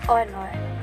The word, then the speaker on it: honor: In the first example, the article an is used because in the word honor, H is silent, so the O, a vowel, is the first sound heard.